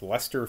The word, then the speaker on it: Leicester: reynolds in leicester fields i'm guessing l-e-i-c-e-s-t-e-r so i guess that's pronounced lester fields dear sir when i